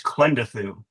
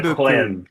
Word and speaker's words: Klendathu: It's pretty easy. It's KLENdathu. So Gazoo. the emphasis is on the KLENdathu.